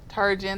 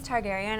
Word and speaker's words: Targaryen: oh oh my god that second one was Targaryen as in darn areas Targaryen and one hundred percent so obviously this questions for you who do you think will win the throne 100% Targaryen okay there you go